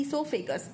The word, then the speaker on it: oesophagus: science में होता है इसोफागस इसोफागस ठीक है इसोफागस में ये मत बोलना कि ये ई से शुरू होएगा ये इसमें ओ होता है वो साइलेंट होता है इसोफागस का दूसरा